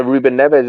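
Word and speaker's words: Rúben Neves: Oh, Matthew Nugent, who's been on this show a couple of times, he pronounces it Ruben Neves. He that's the proper Portuguese. That's probably the proper way to say it, isn't it?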